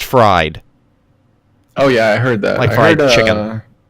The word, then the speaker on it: FRD: frd you know frd apparently it's pronounced fried oh yeah I heard